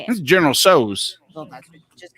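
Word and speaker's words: Tso: This is General So's.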